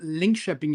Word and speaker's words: Linköping: So first of all, my institution is pronounced Linköping University.